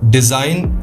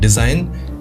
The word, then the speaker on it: Dzine: हैं उसका नाम है डिजाइन AI। ठीक है, स्पेलिंग है DZINE, डिजाइन AI, और इसको ओपन कर लेना design.ai को।